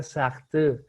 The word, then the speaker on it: Sartre: mandó un mensaje diciendo, muy bueno, pero se pronuncia Sartre.